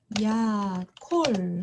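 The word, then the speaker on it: יָכֹל: 돌아왔습니다이 단어는 어떻게 읽을까요 요드 하고 아모이 만났으니까 야 그다음에 카프와 홀 램을 만나서 코 그리고 마지막에 있는 라메드 받침 럼 쓰이는 라메드 맵 눈 셋 중에 하나죠 그래서 야콜 하고 읽겠습니다 다음으로이 단어는 어떻게 읽을까요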